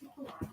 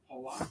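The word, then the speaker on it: Paulak: It's Polak. Is it Polak, but it's spelled P-A-U, like pow. Yeah. But Polak. Yeah, because I'm French.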